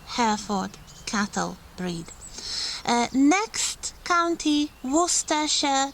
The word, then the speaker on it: Worcestershire: Next county, Worcestershire. This is one of those counties with quite complicated names, so you do not read all the letters here. It's not Worcester or anything like that. Worcestershire.